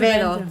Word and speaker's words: Acevedo: Somebody pronounce it. Acevedo. Thank you. See, Acevedo.